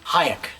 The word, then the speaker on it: Hayek: How do you pronounce her last name? Hayek.